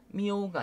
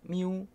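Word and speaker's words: miu: 이게 이오라고 하는데, 이오를 이제 보통 이제 얘기를 하게 되면 이우라고 이제 발음을 많이 합니다. 이우라고 해서 이오 미오가 아니라 미우 미우 이렇게 발음을 하거든요. 그래서 표기는 이렇게 돼 있지만 발음하실 때 이우로 발음하신다는 거를 기억해 주시면 좋고요.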